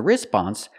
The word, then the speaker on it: response: a response as a response the waitress is going to say something like I'll be back in a few minutes we cannot pronounce the word response the stress is on the second syllable not the first so